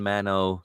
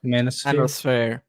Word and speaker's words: manosphere: Manosphere. Manosphere. Manosphere. Thank you. I have dyslexia, so sometimes I can't pronounce all the words.